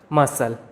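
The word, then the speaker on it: muscle: अगला रूल है, अगर किसी वर्ड में एस के बाद सी आता है तो वहाँ पर सी साइलेंट होता है। एग्जाम्पल के लिए MUSCEL, मसल, मसल, यहाँ पर सी साइलेंट है।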